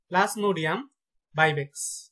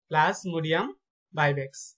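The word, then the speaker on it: Plasmodium vivax: Malaria জীবাণু নাম হচ্ছে প্লাজমোডিয়াম ভাইভেক্স, প্লাজমোডিয়াম ভাইভেক্স।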